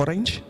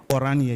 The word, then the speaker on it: Oranje: And then Zita, is it Oranje or Orange? Oranje, yes, just wave.